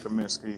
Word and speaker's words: Kaminsky: the latest signing uh Frank uh commencement if that's if I said the name right he said it right this uh Frank Kaminsky who was drafted by